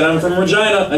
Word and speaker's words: Regina: It's spelled Regina, but it's Regina.